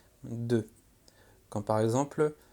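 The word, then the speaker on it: deux: Alors attention, le X ne se prononce pas. 2.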